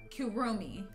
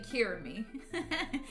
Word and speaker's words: Kirumi: wrong this whole time kirumi I've been saying kirami kurumi oh my Lord